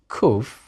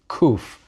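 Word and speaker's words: קוף: Nowadays it's pronounced just like a letter K, just like a kaf with a dagesh.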